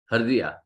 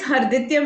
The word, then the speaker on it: Harditya: Hardiya. Sir, it's Harditya Mehta.